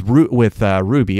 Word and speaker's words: RWBY: But with Ruby, RWBY, I believe that's how it's spelled, how it's pronounced.